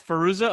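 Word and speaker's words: Fairuza: from the craft what's her how do you pronounce her first name the girl from the craft it's firoozeh okay so she is at the door and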